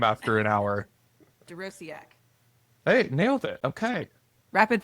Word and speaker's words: Dorociak: We'll see who can pronounce my last name after an hour. Dorociak.